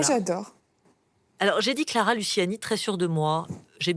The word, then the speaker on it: Luciani: départ qui m'appel même Luini alors bon j'ai décidé de simplifier la prononciation mais la vraie prononciation c'est Clara Luciani laniani on dit presque pas le le i en fait bon je vais m'entraîner